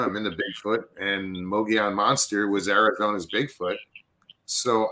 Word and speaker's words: Mogollon: you know, you yeah, know, it's always a Mongolian monster, yeah, Mogollon. Mogollon.